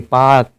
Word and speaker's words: Palk: ये पाक मतलब है PALK, पाक, ये पाक है, यल यहाँ पे साइलेंट है।